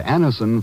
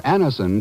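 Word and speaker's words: Anacin: When we ask you to try Anison for the relief of pain due to a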